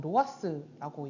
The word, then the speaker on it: ROAS: ROAS라고 되어 있는데 이걸 보통 로아스라고 읽어요.